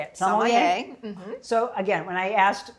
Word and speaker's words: sommelier: And it's I hear a little variance here and there, but sommelier.